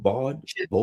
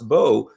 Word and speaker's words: Baud: Jaques Baud, Baud, I think. Jaques Baud. Okay, because in the Baud, U.S. we would be B-A-U-D would be pronounced Baud here.